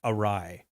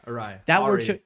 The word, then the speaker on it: awry: other one was um the word that I now know is pronounced awry yeah awry that one shows up